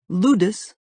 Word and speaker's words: Ludus: Ludus rhymes with brutus derives from the Latin word for play.